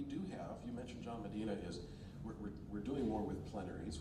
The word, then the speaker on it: Medina: And am I saying it right? Medina or Medina? It's Medina.